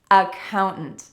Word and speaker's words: accountant: The first career for us to practice is accountant accountants, the important thing here to note is that the second syllable is stressed and that means that the